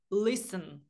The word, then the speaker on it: listen: не наголошений тому що наголос падає на перше на перший склад Listen ми не кажемо listн тому у цьому випадку